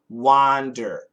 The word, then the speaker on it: wander: So wander is an wander, wander. wonder is an wonder, wonder. So it's the same idea as I want one.